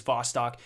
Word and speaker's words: Vostok: a crucible map called Bostic or Vostok I'm not really sure I'm bad at pronunciation I'm pretty sure it actually is Vostok but it is essentially